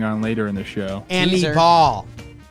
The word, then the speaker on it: Anibal: Anibal. Like when I was a little kid and my mom took me to the store and I just wanted any ball. That's how you say his name.